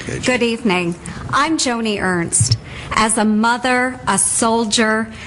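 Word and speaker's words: Joni Ernst: Oh, uh, Joanie Ernst.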